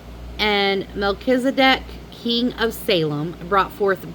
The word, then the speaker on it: Melchizedek: izedek Melch- Hold on. Melchizedek. Melchizedek. That's how you pronounce it.